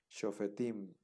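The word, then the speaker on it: שופטים: Entonces, shofetim. Pero tenemos este sereg en la sílaba pretónica, ¿no? Tim, digamos que tim sería la sílaba tónica, ahí va a recaer el acento.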